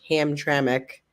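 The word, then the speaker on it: Hamtramck: where's that one at it's gonna be in ham traic which is funny because like it's pronounced ham traic okay but like the way it's spelled is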